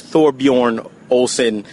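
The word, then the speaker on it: Thorbjørn Olesen: It's Thorbjorn Olsen. That's how you pronounce his name.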